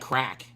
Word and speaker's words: craic: Did you know that crack in Ireland, the word crack means fun? CRAIC, I think is how you say it.